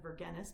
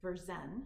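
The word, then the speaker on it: Vergennes: It looks like Verennis, but of course that's not it. If you don't speak French, it's um Verzen. His name is V. Beren, Berzen, it's how to pronounce it.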